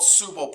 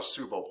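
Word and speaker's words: tsubo: And these are called Subo points. It starts with a T, but they're pronounced Subo points.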